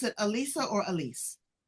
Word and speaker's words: Alisa: Do you pronounce it Alisa or Alise? Alisa. Alisa.